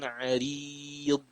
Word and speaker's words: عريض: فذو دعاء عريض.